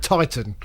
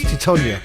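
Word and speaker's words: Tytoń: Yeah, only because you said that the Greek goalkeeper was called Titan, and I think people will think that because he was sort of 6'9" or something. But his name's Titonia, in fact.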